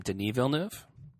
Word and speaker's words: Denis Villeneuve: think it I think you say his name denis villeneuve he's the guy needed prisoners and I like